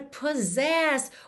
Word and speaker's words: possess: ouvindo no podcast, é P-O-S-S-E-S-S. Em português, S-S sempre soa S, né? Um S caprichado. Mas em inglês a gente vai dizer possess, possess.